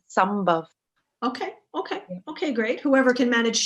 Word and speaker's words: Sambhav: Now, I'm asking you, please, can you pronounce the name of your foundation? Yeah, here in Europe, it's easier to say Sambhav, but the locals, they say Sambhav.